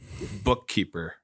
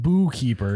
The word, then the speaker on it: bookkeeper: Oh, There's a silent K in there, Jared. Yeah, Compound it's not word. bookkeeper. no. It's not boo keeper either.